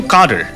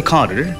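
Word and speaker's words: cadre: আচ্ছা, তো এইটা উচ্চারণটা কিন্তু কাডার, সিএডি আর ই উচ্চারণটা হচ্ছে, ব্রিটিশরা বলে খাডার, আমেরিকানরা বলে খ্যাডরি। ক্যাডার কেউ বলে না, হ্যাঁ ক্যাডার কেউ বলে না।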